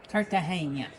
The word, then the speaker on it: Cartagena: says it's probably Cartahena. Cartahana. I don't know. That's my guess. And that's because in Spanish, the G's and the J's are all pronounced as H's.